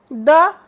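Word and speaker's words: the: तो आप ये बात याद रखिए कि इस वर्ड को हम द उस वक्त प्रोनाउंस करेंगे जब नाउन कॉन्सोनेंट साउंड के साथ हो। जैसे रैग, रैग के साथ हम दी नहीं पढ़ेंगे, रैग के साथ हम द पढ़ेंगे।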